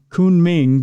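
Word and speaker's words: Kunming: outside the city of I think it's pronounced Kun Ming but it looks like cuming when you read it fast in South China captured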